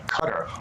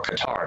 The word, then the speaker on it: Qatar: neither way is wrong cutter is said More Often by locals there but you'll hear it pronounced Qatar more so here in